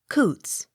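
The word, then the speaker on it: Coutts: m cunningham c o u t t s coots c o w p e r cooper d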